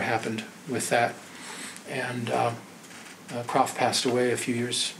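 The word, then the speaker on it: Kropf: with that and uh crof passed away a few years after that would you spell his name the first um k r a PF k r a PF C he pronounced it crof Philip crof and uh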